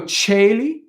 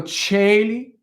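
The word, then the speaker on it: coeli: on cuando cuando cuando chelli again that's an ae that makes the um the c have a ch sound cuando cheli cuando chelly and you really terra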